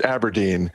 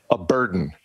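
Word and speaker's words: abrdn: They're telling us A-B-R-D-N is pronounced Aberdeen and not, as I first looked at it, as a burden.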